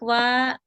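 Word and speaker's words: は: Meskipun dibaca wa, tapi ditulisnya dengan hiragana ha ya. Alena-san ini. Ini pakainya hiragana ha, bukan wa, tapi dibacanya wa.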